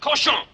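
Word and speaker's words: cochon: than murdering my Rhymes the word is pronounced koson what's that oh that's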